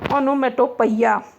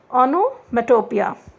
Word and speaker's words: onomatopoeia: कभी लोग याद करने के लिए कहते हैं onomatopoeia, but it is not like this. You should remember the word is pronounced as onomatopoeia.